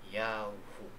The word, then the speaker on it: Yahu: yung yado na YHW ang tamang pag-pronounce ay Yahu.